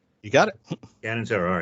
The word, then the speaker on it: Catanzaro: make sure I'm pronouncing this correctly, Catanzaro. You got it. Catanzaro, all right.